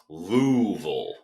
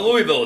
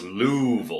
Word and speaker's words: Louisville: region could tell you it's louville Louisville not Louisville it's louville I'm from up North